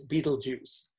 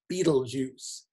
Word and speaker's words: Betelgeuse: for this star and any way you pronounce it is just as wrong as any other way looking at these two